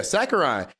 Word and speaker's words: Sakurai: Yeah, Sakurai.